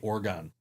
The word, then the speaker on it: Oregon: mad when I say Oregon. I have learned that over the years. I've had the people from Oregon say, no, you can't say Oregon. It's pronounced Oregon. Like Oregon. Like a human organ?